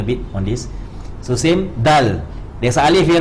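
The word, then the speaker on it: دال: You prolong this at least for 2 harakat. Then you end with the L. That means you end with the lam lah actually. Then you end with the L. Dal.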